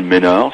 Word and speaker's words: Mesnard: Par contre, vous pouvez l'envoyer soit à mon nom, Ménard, ça s'écrit MESNARD, soit à Lumière dans la nuit, où vous mettez simplement LDLN, ça revient au même.